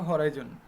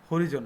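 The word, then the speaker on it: horizon: উচ্চারণটা খেয়াল করতে হবে, হরাইজন, হরিজন না।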